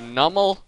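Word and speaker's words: Numel: I mean, if you don't know grammar, and I know grammar, I know that it's pronounced Nummel, so I know English, And I know that something.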